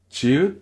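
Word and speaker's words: 지읒: Chieu se prononce comme un J léger sans souffle. La langue touche juste derrière les dents du haut. Pas loin dans la bouche, pas loin dans la gorge, juste derrière les incisives.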